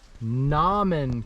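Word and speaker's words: Nauman: little view well i've made it to the nomin campsite i kept calling it newman all day i don't know why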